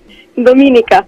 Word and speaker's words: Dominika: Mi togli sto dubbio, come si pronuncia, Dominica o Dominica? Dominica.